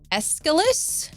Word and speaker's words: Aeschylus: Playwright, I had to write how to pronounce the name because I'm awful with names. Aeschylus?